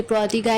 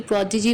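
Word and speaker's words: prodigy: इसे प्रोडिगाई नहीं प्रोडिजी pronounce करेंगे।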